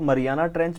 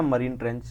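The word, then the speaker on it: Mariana Trench: चीज इसको इसका जो नाम है इसको आप मरियाना ट्रेंच बोल लीजिए मरियाना ट्रेंच या मरीन ट्रेंच जो भी आपका मरीना ट्रेंच वैसे स्पेलिंग जो है यही है हिंदी में आप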